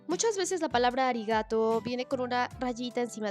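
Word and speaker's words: ありがとう: después de la o en realidad es arigato pero esto en japonés va a pronunciarse como una muy larga esto es muy importante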